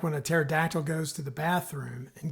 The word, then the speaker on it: pterodactyl: Zora says, "What does it sound like when a pterodactyl goes to the bathroom?" And Gabe says, "What?" And Zora says, "Nothing. The P is silent." And then Gabe says, "The P? There's no P in pterodactyl."